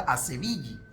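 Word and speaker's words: Asevilli: Ashvili. Se pronuncia Ashvili, pero la pronunciación correcta Ashvili, de Sevilla. ¿Cómo terminó siendo Ashvili?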